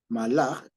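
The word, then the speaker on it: מלאך: es cierto Ángel Okay en hebreo se dice mal A sí malaj y que se escribe más o menos así Ah vaya una Lita un poquito más gruesa para que se vea se escribe Así malaj sí esta es la m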